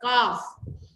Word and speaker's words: calf: काफ बोलते हैं, CALF, काफ।